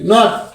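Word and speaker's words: knot: শুধু নাও হয়ে গেল তার মানে কে এর উচ্চারণটা উজ্জ্ব হয়ে গিয়েছে কে এন ও ডব্লিউ নাও কে এন ও টি নট কে N double E কে N double E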